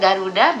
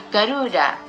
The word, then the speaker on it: Garuda: Padahal kita sebagai penutur asli mengucapkan Garuda biasa saja, tidak memakai bentuk panjang. Tetapi entah kenapa orang menyebut maskapai Garuda ini dengan pelafalan Garuda.